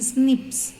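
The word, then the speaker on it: SNPs: in the human being so they have said single nucleotide polymorphism so that pronunciation snips okay nips so snips means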